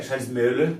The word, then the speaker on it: Charles Miller: Esse filho chamava-se Charles Miller, que é Charles Miller, que é o jeito certo de pronunciar, que vinha do grupo